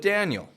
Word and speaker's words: Daniel: The key here is that you're not going Daniel, Daniel, but that you're slowing the sound down. You're projecting your voice clearly from your belly, and you're making this transitionary movement. Dan, Dan, which creates the American twang sound.